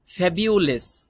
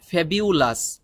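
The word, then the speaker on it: fabulous: মানে হলো বিখ্যাত ফ্যাবিউলেস এখানে একটি গুরুত্বপূর্ণ বিষয় সেটি হলো ফ্যাবিউলেস আমরা অনেকে বলি ফেবিউলাস ফেবিউলাস বললেও হবে কিন্তু আপনি যদি দুইটা লাভ একসাথে করতে চান কোন বিদেশী যাদের ভাষাই ইংলিশ তাদের কথা যদি আপনি বুঝতেও চান শুনে তাহলে আপনি এখন থেকেই ওদের মত উচ্চারণ করতে চেষ্টা করুন ফ্যাবিউলেস ফ্যাবিউলেস মানে হলো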